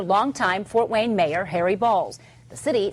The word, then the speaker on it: Balals: Harry Balls' name earns national and international attention. Balls spelled Balals. Balals. Correct. Okay. All right. But it's pronounced balls.